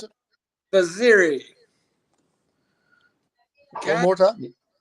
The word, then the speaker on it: Vaziri: I would say his real name, but I'm sorry, I can't pronounce it. Vaziri. One more time. Vaziri.